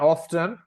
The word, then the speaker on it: often: letter t T so some people will pronounce often without the T okay and this happens